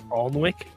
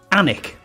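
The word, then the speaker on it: Alnwick: late night TV show alwick oh not I'm going to call that AR alwick onck it's called it's called anic anic anic you know it's not an D people are just lazy that's all come on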